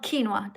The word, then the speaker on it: quinoa: plant-based foods like beans, lentils, tofu, and I can't really pronounce that word. I'm so sorry. No, that's called quinoa.